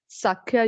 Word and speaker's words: Sakhya: 7th point is Das, or you can spell it as D-A-S-Y-A, Dasya. 8th point is Sakha, or Sakhya, you can say S-A-K-H-Y-A.